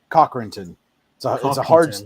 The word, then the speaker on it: Cochranton: Cochranton. It's a hard CH.